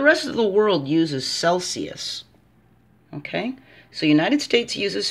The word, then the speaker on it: Celsius: Or Celsius. The C-E says su.